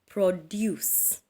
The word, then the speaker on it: produce: on the second syllable another word is like um produce produce so you shall stress deuce and I have said